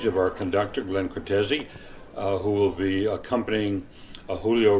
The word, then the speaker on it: Cortese: Am I pronouncing that right, or is it Cortese? That is right. Cortese, yes.